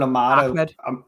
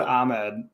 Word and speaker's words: Ahmed: I think they have Myles Gaskin and they have Salvin Ahmed. Yeah. They have. It never made sense to me because it's spelled Ahmed, but all the announcers always said Ahmed.